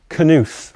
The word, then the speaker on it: Knuth: This, on the other hand, is some code written by Donald Knuth, which his website said that's how you pronounce his name.